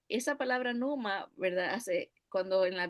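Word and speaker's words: pneuma: otra palabra la palabra numan o neuma se escribe neuma pero se pronuncia Numa dice esta palabra principal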